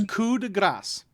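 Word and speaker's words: coup de grâce: a five in there it's also kuda grass until it's pronounced but it's spelled coupe de grâce so the coupe is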